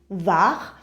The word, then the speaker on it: Var: I don't know how you pronounce it in English, but in French it is Var.